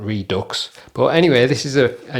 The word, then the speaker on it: REDUX: these are from the, I think it's pronounced Redo or Redo. I don't think it's pronounced the way it's spelled, Redux.